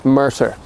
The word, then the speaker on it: Murtagh: So it's Murtagh. Oh no. So just Murtagh. Oh my god. It's Irish. Irish? Yeah, a little bit of Irish in it.